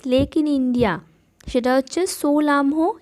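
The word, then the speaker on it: Tso Lhamo: Next highest lake in India, সেটা হচ্ছে সোলামহো, এখানে টিটা সাইলেন্ট বা চোলামু লেক, যেটা সিকিমে রয়েছে।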